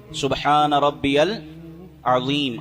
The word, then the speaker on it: سبحان ربی العظیم: سبحان ربی العظیم، عین کی آواز نکالنی ہے، سبحان ربی العظیم۔ بعض